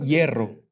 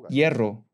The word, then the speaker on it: hierro: tenía que pedir hierro en el español se pronuncia hierro en coreano existe la doble r no no existe la pronunciación r hierro estoy seguro que los coreanos no pueden pronunciar hierro dicen hielo o hierro pero no pueden decir hierro yo le puedo decir